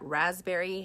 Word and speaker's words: raspberry: Did you know that raspberry has a P in it when you spell it? A P, the letter P. And that means that the letter P is silent.